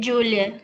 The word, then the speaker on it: Giulia: A pronúncia é Julia, como se fosse D.